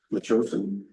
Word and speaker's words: Metchosin: Metchosin, town of Soyuz.